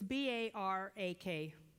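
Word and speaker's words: בָּרַךְ: It's B-A-R-A-K, so it's sort of like bark.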